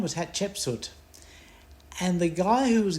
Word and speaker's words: Hatshepsut: I still say in my brain, hat, cheap, suit, and out comes Hatshepsut.